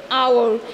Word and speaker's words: hour: it similarly we don't say how we say our here the beginning letter of the word is is silent and and it sounds like a vowel